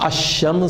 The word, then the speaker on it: الشمس: لیکن ذرا غور فرمائیے، جب ہم تلفظ ادا کرتے ہیں تو لکھا ہوا ہوتا ہے الشمس، لیکن ہم اس کو پڑھتے ہیں الشمس۔ اس کے برخلاف القمر